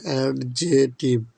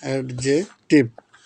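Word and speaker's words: adjective: প্রথমে এডজেক্টিভ কাকে বলে এটা আগে দেখো উচ্চারণটা হবে কিন্তু অ্যাডজেক্টিভ অ্যাড জে টিপ উচ্চারণটা হবে অ্যাড জে টিপ সেটা উচ্চারণ হবে না এডজেক্ট বলা যাবে না এডজেক্টিভ এবার কিছু উদাহরণ দেখো তাহমিনা ইজ এন ইনোসেন্ট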